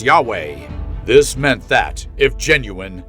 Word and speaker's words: Yahweh: stylized version of YHW, the Hebrew name for God, pronounced Yahweh.